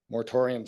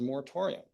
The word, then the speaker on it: moratorium: Mortorium sounds ominous. Rhymes with sanatorium.